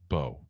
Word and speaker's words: Mbow: Marcus Bo official. Anyway, probably the most time we ever had conversations on how to pronounce someone's name, but it is what it is.